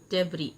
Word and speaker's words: debris: The soldiers began to clear the debris. Debris, yes, is silent here.